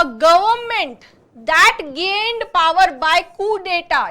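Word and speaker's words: coup d'état: इसके अगेंस्ट जो गवर्नमेंट, देखो, a government दैट gained power bye कू डेटा, इसका प्रोनाउंसिएशन है कू डेटा, जिसको हम कू बोल सकते हैं।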